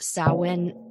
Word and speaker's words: Samhain: If you see it written out, it looks like Samhain, Samhain, but in Irish, it is pronounced Samhain.